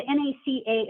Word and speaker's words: NACA: don't realize is the NACA is actually an initialism that's pronounced by saying each of the individual letters whereas NASA is an